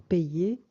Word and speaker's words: payer: Donc, on ne prononce jamais pas. Oui, toujours payer.